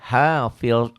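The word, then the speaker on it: حافظ: In kullu nafsin lamma 'alaiha hafiz, jangan hafid ya, hafiz zo ya.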